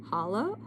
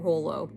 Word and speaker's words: holo: I think this is considered hollow. Would you say hollow or holo? Hologram. Hollow. That's how I pronounce it.